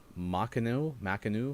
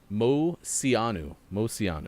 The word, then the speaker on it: Moceanu: Amy Chow, Dominique Dawes, Shannon Miller, and Dominique Makanu. I can't remember. They had two Dominiques? Yeah, they did. Yeah, you have to help me with the phonetic pronunciation, but happy birthday, Sean's mom. Yeah, it's Moceanu.